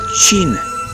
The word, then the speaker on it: Qin: a united country and this starts with the Qin Dynasty spelled with true it gave the name to China